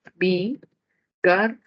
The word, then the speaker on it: bigardo: Bigardo, separación silábica, tendríamos bigardo. La central es la que tiene la mayor fuerza de voz, sílaba tónica.